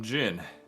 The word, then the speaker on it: Djin: I myself am Djin. The D is silent.